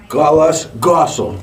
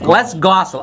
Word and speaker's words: Les Gosule: Okay, we're in the WCRN studios with, now your last name is pronounced Les Gosule. Les Gosule.